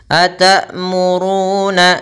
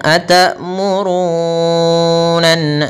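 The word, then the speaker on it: تأمرون: juga naas kita ditahan kemudian Ru di sini kita panjangkan dua harakat ada wau mati setelah huruf dah maka dinamakan Mad thii atamuruna jangan terlalu panjang atamurunan kepanjangan aturunanasa di sini ada gunna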